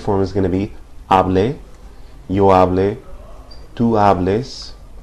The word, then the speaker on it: hable: So with hablar, the subjunctive form is going to be hable, yo hable, tú hables. It's important not to emphasize the final syllable when you pronounce these, because it's the second to last syllable that's emphasized usually.